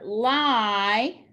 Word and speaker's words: lie: And for lie, underline the digraph. Again, we want the I to say its name, so we put a macron, cross out the E, it is silent. Please do not lie to your parents.